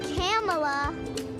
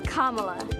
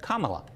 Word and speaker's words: Kamala: not camella it's not kamala it's not camella it's kamala oh well the senator says people mispronouncing her name but says it's easy to remember just combine comma with law and you get kamala kamala it's what i